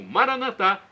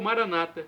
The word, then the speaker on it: Maranatá: E agora, do aramaico dialeto de Jesus Cristo, eu clamo Maranatá, como dizemos nós católicos. Ou Maranata, como dizem nossos irmãos separados, os evangélicos ou protestantes. Não importa a pronúncia, o significado é o mesmo.